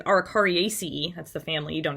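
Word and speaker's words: Araucariaceae: picture on the left the arikarya or excuse me arikari ace that's the family you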